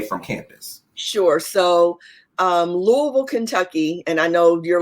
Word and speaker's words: Louisville: things um did you want to talk about louisville and cincinnati real quick with those being an hour away from campus sure so um louisville kentucky and i know you're like what is